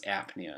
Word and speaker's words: apnea: when it's like this the P is silent but you put an A in front of it it becomes apnea and when somebody's has